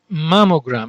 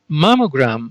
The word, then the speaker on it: mammogram: of a blood vessel now let's see the pronunciation angiogram angiogram the next term is mammogram again using gram here as suffix mammogram mam means breast it is a root here